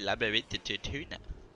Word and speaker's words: Labyrinthodontia: Labyrinthodontia. I didn't know it was like said like that. I almost went for all out. I could have lost. Labyrinthodontia. That sucks. Labyrinthodontia. Nah, it's Labyrinthodontia.